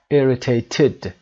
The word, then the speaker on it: irritated: For example, annoyed is pronounced d, irritated is pronounced irritated, id, and depressed is pronounced t, depressed.